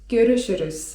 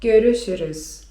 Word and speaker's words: görüşürüz: I wymawiamy je: görüşürüz (czyt. görüszürüz) görüşürüz (czyt.